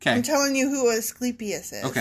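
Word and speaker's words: Asclepius: He was Did you look up the pronunciation correct? Yes. I looked it up and it is Eskeipius.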